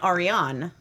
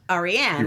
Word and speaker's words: Ariane: By the way, my mom gave me the name Ariane, not Ariane.